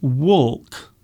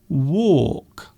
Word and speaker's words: walk: So the L is silent. So you don't say walk. You say walk. So it sounds like war.